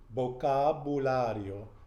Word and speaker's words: vocabulario: And one thing with the V is not not vocabulary, and I do that too, but the proper way to pronounce it is like a B. Vocabulario.